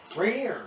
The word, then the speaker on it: Rainier: Rainier rhymes with beer.